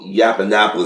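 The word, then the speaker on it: Yiannopoulos: But when Milo Milo Yapanopoulos, that's how you pronounce his name, came in here, he came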